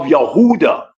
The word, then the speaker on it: Yehuda: sins like the descendants of Yehuda or Huda which is the true pronunciation of Judah Mr.